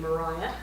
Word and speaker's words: Maria: Maria Dewing, and she did pronounce her name Maria, was his wife.